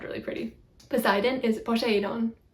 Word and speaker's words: Poseidon: Poseidon is Poseidon, Poseidon. The accent is on the last syllable, but I don't think it's like Poseidon, because that just kind of sounds weird.